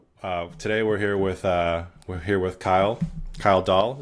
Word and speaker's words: Dahl: But today we're here with Kyle Dahl. Is that pronounced right? Hey, everybody. Dahl indeed. Okay. Yep. So Like the toy.